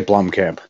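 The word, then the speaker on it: Blomkamp: it was uh Neil Blum I'm gonna say Blom Camp because you're saying it right his last name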